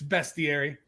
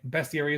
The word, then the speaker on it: bestiary: to say it folks there's no a in the word come from latin it's a shame we're on right now you'd be making fun of us but it's bestiary that's how i say it right that's the right way best area is best and that book people